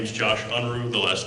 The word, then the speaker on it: Unruh: up with our last ticket it is mr unra i apologize anyway uh that's okay my name is josh unruh the last name is spelled u-n-r-u-h i am a recently governor-appointed member